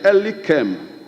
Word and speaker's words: Elikem: The name is supposed to be Mr. Elikem. Elikem. And Elikem is spelled E-L-I-K-E-M.